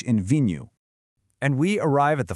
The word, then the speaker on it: vinho: It's pronounced v new.